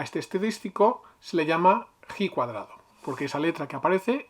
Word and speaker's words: ji cuadrado: y sumamos a este estadístico se le llama he cuadrado porque esa letra que aparece es una letra